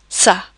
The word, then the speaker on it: ça: When we use a cedilla, that's basically that C with a bit of a tail, it will always indicate a soft C. So we use the cedilla and the letter A, but that would actually be not a K sound, that would be a soft C sound. So it would say ça, for example.